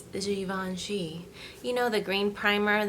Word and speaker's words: Givenchy: I would pronounce it as Givenchy, but I know it's fancier than that. It's Givenchy.